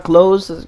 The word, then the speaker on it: Klose: This is episode 8, and right now I'm rocking with Beneil Dariush, who got that sick ass KO on Drakkar Klose.